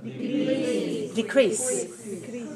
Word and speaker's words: decrease: what word is that decrease decrease how many syllables decrease two syllables right where's the stress one decrease one or two listen to me one decrease decrease to do okay